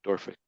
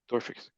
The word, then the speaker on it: Dorphysics: Say it like one word, like Dorphysics. Door physics.